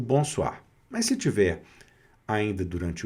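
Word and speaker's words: bonsoir: também onde nós temos uma pronúncia eh interessante que é diferente para nós brasileiros, que é o o mais ira waa. Tá? Então é bomar. Bonsoar. Tá? Então esse o mais i vai ser wa bonsoar. Mais uma vez também pronunciando o r aqui no final, tá certo?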